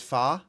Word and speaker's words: Pho: The correct way of saying it is Fa, Lucky Star? Is that really how you pronounce that? P-H-O? Fa? Really?